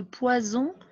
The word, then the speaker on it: poison: ici 2 est ce parce qu'on prononce ce vous voyez la différence entre poison et poissons alors regardez bien vous